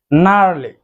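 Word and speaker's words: gnarly: যখন এন লেটারটি আসবে তখন অবশ্যই জি সাউন্ডটি সাইলেন্ট থাকবে। জি সাউন্ডটি সেক্ষেত্রে আর আমরা করব না। নার্লি।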